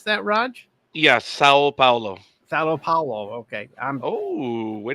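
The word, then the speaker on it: São Paulo: Is that how you pronounce that, Raj? Yeah, Sao Paulo.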